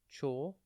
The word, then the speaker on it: chortle: one word at a time today's word is chal it is pronounced chal and it is spelled c h o r